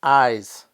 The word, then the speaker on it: eyes: was my eyes hurt the only difference in pronunciation between eyes and ice is the voiced Z and the unvoiced well maybe you're thinking